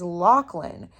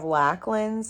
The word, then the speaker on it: Lachlan: Where in Australia, the way that you would pronounce Lach would be Locke with the just the way that their accent is, I think.